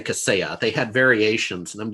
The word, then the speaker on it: Kaseya: the media like solarwinds right but they kept mispronouncing it like on abc they called cassie uh or you know they didn't say caseya they had variations and i'm just like going